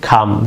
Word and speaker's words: calm: hasn't বিন শান্ত হচ্ছে খাম সি এল এম অনেকের কাম কাম উচ্চারণ করেন এটি ভুল উচ্চারণ ভুল প্রনাউন্সিয়েশন এবার খাম সি এল